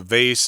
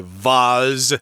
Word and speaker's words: vase: can put flowers in americans say vase i think the british say vaz oh no it's people who are kind of uh snobbish it's not the british people in america you'll hear some people go i need a vaz you take these flowers